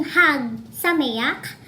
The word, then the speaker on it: Chag Sameach: Chag Sameach. Pwedeng Hag Sameach, pwedeng Chag Sameach, yung gumagaralgal. Ang CH ay pwede pong H at pwedeng KH.